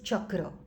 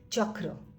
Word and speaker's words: chakra: is written as this is the way you pronounce it it is chakra chakra but then how do you write it in